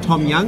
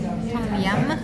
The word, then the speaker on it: tom yum: Tom Young, is that right? Tom Yum. Oh, Tom Yum. Like, I think Yum. Oh. Tom Yum, I think. Okay, so like Tom Young. No. Okay. No. Right. Tom Yum.